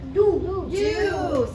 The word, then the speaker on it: do: Okay, what about this word? Do. Same thing. The O is open, free to go, so it should say O. But in this word, it says ooh, do.